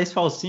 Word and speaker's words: Sfalsin: É Esfalcin que pronuncia mesmo? Esfalcin. É difícil pronunciar, mas é Esfalcin mesmo.